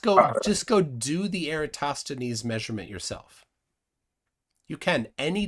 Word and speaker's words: Eratosthenes: to Pythagoras uh and it's eratosthenes is the way it's typically pronounced um oh yeah yeah